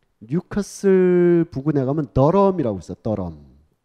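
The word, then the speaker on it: Durham: 더럼. 더럼이 아니고 더럼. D-U-R-H-A-M인데 중간에 막 묵음이 되면서 더럼이라고 불리는 곳인데 거기는 우리가 안 가봤지만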